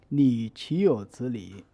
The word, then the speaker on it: 你岂有此理: Well, the correct pronunciation is 你岂有此理. After division, the syllable 你 stands alone, but it is not at the end of speech flow, so it is pronounced as half of the third tone.